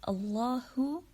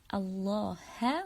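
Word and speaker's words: اللهُ: In the word Allahu, there is dhamma on the ha letter here. Who, we said who, it's ha with the vowel of dhamma. If you say it like Allah ha with the vowel of fatha, so it would be very different.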